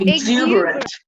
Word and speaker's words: exuberant: Exuberant. And what do you mean by exuberant? Full of energy. Okay. And the stress is on the second syllable, exuberant. Okay.